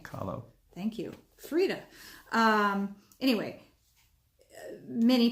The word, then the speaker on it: Kahlo: Kahlo.